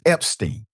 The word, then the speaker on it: Epstein: It's Epstein, okay?